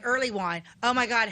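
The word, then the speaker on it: Earleywine: wine oh my God how do you spell that e a r l e y w i n e oh just like it sounds yep yes just but early wine will throw you way off Hill wasn't better what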